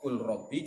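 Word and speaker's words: قُلْ رَبِّ: Jadi bacanya kul robbi. Jadi kul robbi cara bacanya dibaca kul robbi.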